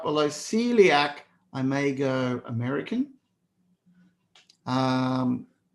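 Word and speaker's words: coeliac: ah path well done celiac disease but who would have thought Celiac you don't even pronounce the O Celiac but it is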